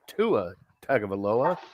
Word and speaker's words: Tua Tagovailoa: And then you got Derek Carr, Jared Goff, Russell Wilson, Tua Tagovailoa. Did I pronounce that right?